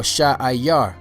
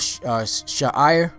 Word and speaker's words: Seir: All right, the next name that you should know is Seir or Sha'ayar. Sha'ayar. You know, there's sometimes it's spelled Sha'ir, but in most places I saw it spelled Sha'ayar. Sha'ayar. You know, so whether you say Sha'ir or Sha'ayar, the word Sha'ayar means